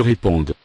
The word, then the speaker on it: répondent: Ils répondent. Ils répondent. Elles répondent. Elles répondent. Same thing here, classic ending, E-N-T. but we don't pronounce them.